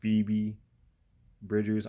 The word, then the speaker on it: Phoebe Bridgers: I've been saying like her name wrong the whole freaking time. It's freaking pronounced Phoebe Bridgers.